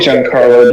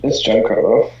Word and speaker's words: Giancarlo: It's actually Giancarlo, dude. It's Giancarlo.